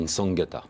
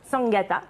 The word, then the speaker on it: Nsangata: Alors, on ne prononce pas le N, en fait, on dit Nsangata. Nsangata, qui est au dessin.